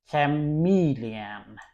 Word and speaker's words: chameleon: Uh next word is look at that chameleon. Chameleon. All right. So as you can see the stress is on the second part and ch sounds chameleon.